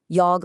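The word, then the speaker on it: yogh: Yog looked like a curly three and made this throaty G sound.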